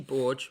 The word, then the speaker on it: Borge: Kelsey Borge. Borge rhymes with George. That's what I've learned from Rhea in my Discord server.